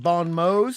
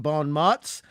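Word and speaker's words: bon mots: of stage plays and funny stage plays and bond mode which is often mispronounced Bon Ms um and there were a lot of bonm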